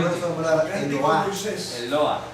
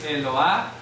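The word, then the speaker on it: אלוה: el mapic el mapic el mapic señala que la letra e se debe de pronunciar Cómo la pronuncia el lo el Ah ya el el lo el loa es pronun Sí el mapic hace que la se pronuncie si no tiene mapic no se pronuncia ya el loa Qué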